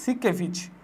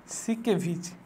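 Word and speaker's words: Siekevitz: এবং হচ্ছে আর একজন বিজ্ঞানী, সেটা হচ্ছে কি সিকেভিচ, লোই এবং সিকেভিচ, SIEKVITZ, বানানটা কিন্তু একটু অন্যরকম, ক্রিটিক্যাল।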